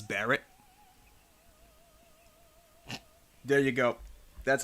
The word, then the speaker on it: Bullet: The announcer pronounces Bullet's name as Barrett.